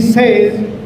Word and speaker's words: says: We have not to say he says, it is he says.